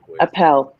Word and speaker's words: Appel: you the next apple director of r-e-s-t hi did i say your surname right is it apple you know you can say apple or appel actually appel let's say it properly appel appel good to